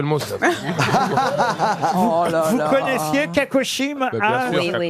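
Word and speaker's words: cacochyme: c'est- Vous connaissiez Kakoshim? Bah, bien sûr, oui, oui. Kakoshim. Ah, c'est un joli mot. Et ça s'écrit C-A-C-O-C-H-Y-M-E, Kakoshim, qui est d'une santé fragile, surannée, sans force.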